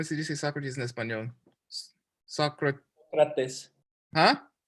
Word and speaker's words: Sócrates: Sócrates. Huh? Sócrates.